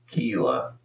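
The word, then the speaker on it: Ta'Kila: They gave her the name T-A apostrophe Keela, K-I-L-A. Her name is Keela, and it's spelled like that.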